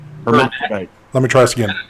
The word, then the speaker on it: hermaphrodite: but Recurve with the Hermephrodite. I don't know. Y'all are going to have me thinking all kind of different words. It's Hermaphrodite. Hermaphrodite. No, Hermaphrodite. Hermaphrodite. Hermaphrodite.